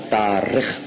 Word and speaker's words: تارخ: طارق نہیں، تارخ. اس کا ایک تلفظ تارخ بھی ہے، لیکن جو البدایہ والنہایہ میں علامہ ابن کثیر نے لکھا ہے وہ تارخ ہے.